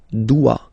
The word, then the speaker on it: dois: Okay, remember final S is not pronounced. Je dois. OE, when you combine the two, you get the sound wa wa wa.